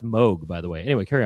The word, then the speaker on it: Moog: I heard it's pronounced Moog, by the way.